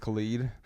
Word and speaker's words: Khalid: But it's ID. It's not EED. It's pronounced Khalid.